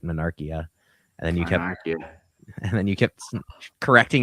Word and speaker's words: Monarchia: You said it right, Monarchia, and then you kept correcting yourself the wrong way.